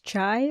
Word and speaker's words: cha: Today's episode is all about masala tea, also known as chai or chai tea. I'll be calling it cha because that's how it's said in Punjabi.